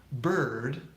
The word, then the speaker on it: bird: tell you this one bird rhymes with word here's that for a fun fact bird if you missed last